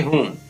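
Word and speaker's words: whom: इसी प्रकार इसको पढ़ेंगे, W साइलेंट हो गया तो इसको पढ़ेंगे हुम।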